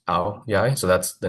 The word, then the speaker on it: áo dài: So it's Aodai, but it's pronounced áo dài.